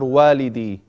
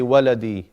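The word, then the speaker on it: والدي: Abi Adnan or Walidi. Walidi. And I said to you, don't say waladi, because waladi is my child. Walidi, you have to make it long. After the waw, you get the alif.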